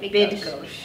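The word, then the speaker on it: Bydgoszcz: Bidgosh. Oh, that's good. Pronounced with a Z.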